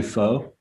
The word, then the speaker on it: pho: like if and and am i pronouncing is it fun or is it or is it kind of like boy is it different like oh that was perfect yeah it's actually foe no don't listen to